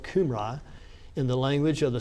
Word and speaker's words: Cambria: Sir John Rise, both countries, speaking of Wales and Britain of the Qumrai, were for some times called Cambria, pronounced as if spelled Qumrai.